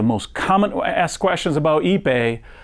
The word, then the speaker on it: Ipe: What is Ipe? Spelled I-P-E and pronounced Ipe, is an extremely dense tropical hardwood